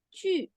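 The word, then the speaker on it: 去: El verbo ir que se escribe Q-U. Para nosotros suena Q. Y ellos le dicen chu, Sí.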